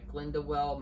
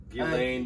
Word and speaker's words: Ghislaine: heightened time of everything that's coming out with Glendewell Maxwell. Ghislaine Maxwell. Ghislaine Maxwell? Maxwell. What? Yeah, her name's really hard to pronounce.